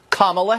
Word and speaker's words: Kamala: Kamala Harris so now we know how to pronounce her name Kamala Harris okay and this is her talking to